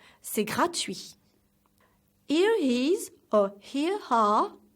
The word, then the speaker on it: gratuit: We say, c'est gratuit. So, the last T is silent. One more time. C'est gratuit.